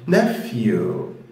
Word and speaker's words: nephew: في خطأ شائع هنا ان لما يجي حد يقرأ الكلمة دي ال ph دول بينطقهم ph، لا هو ال p مع ال h لما بيجوا ورا بعض كده بيتنطقوا اكنهم f، فتقول ف ف nephew nephew.